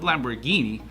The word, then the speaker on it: Lamborghini: The end of Lamborghini sounds just like guinea as in guinea pig.